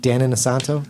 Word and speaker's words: Dan Inosanto: Dan Inosanto.